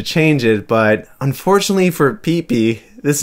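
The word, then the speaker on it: Piepi: are pretty much self-explanatory clefairy in german is peepee and this sounds similar to its japanese name peepee just with a long vowel in the first syllable i wonder why they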